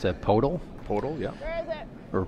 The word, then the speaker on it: Podoll: You pronounce that Podoll? Podoll, yeah.